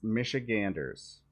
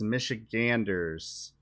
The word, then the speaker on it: Michiganders: listen that how you that's not how you say that it's michiganders yeah it's not Michigan or Michigan nurse I don't even know